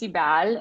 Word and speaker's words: Sibel: It's Sibel in Turkish, but it's it was the perfect name for her because she's so doom oriented.